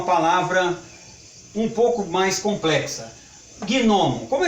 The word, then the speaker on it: gnomo: E quanto à força da acentuação tônica, gnomo, nós não pronunciamos gnomo, e sim gnomo, gnomo. Significa que é uma palavra dissílaba, paroxítona, que tem o seu acento tônico na primeira sílaba.